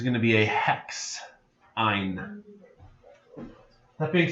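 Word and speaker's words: yne: So if it ends in a triple bond, the suffix we use is Y-N-E, which I pronounce ein.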